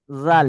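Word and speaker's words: ذال: জাল, জি ভাই, জালের উচ্চারণ জিবের আগা, জাল, উপরের দাঁতের আগা।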